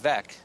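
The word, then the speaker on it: Veeck: is good with Mike VEC uh of course you all Baseball fans know that that rhymes with wreck and uh he lives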